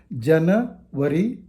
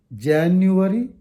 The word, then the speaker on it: January: r y ending words it's not Jana worry febrra worry it's wrong January February g i g a